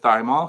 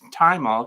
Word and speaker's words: thymol: I said thymol because that's the way it's spelled. It's thymol because it comes from the thyme plant.